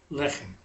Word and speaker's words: לחם: Lechem is a noun that's got 2 segols. The le and the che, those vowels are both segols. When you have a noun with 2 segols, it's going to have the accent on the first syllable.